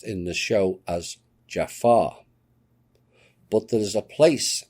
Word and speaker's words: Jaffa: And for further proof, the main warriors that protected the Goa'uld fake gods in Egypt were called the Jafar, pronounced in the show as Jafar.